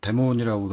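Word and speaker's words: daemon: MySQL 서비스라고도 하고 데몬이라고도 하는데, 정확한 발음은 뭐 디몬 이렇죠. 그런데 흔히 IT 용어로는 데몬이니까 데몬이라고 합시다.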